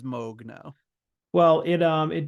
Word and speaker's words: Moog: decide if it was Moog or Moog I think it's I think it's Moog all right we'll say Moog yeah I've been uh every every 20 years or so I Chang the way I'm pronouncing it I feel confident it is mogue now well it um